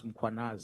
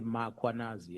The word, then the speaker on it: Mkhwanazi: them to pronounce muanaz, they will put an a after m. They will say muanazi and there's no awanas. Mkh.